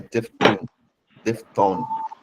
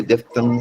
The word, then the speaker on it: diphthong: pure vowel or a diphthong. Some people say diphthong, some people say diphthong. It's all accepted.